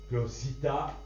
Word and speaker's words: citta: Nadie seguidme a haré de un monde todo esto para Cita que chita cita chita c'est la c'est le